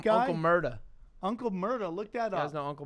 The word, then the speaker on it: Uncle Murda: see key put an uncle murder which obviously is not spelled like murder it's with a because that makes it different it's not racist well obvious with an uncle murder with an ER right right yeah right